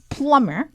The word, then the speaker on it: plumber: plumber, 배관공이기 때문입니다. 비발음 안 해요.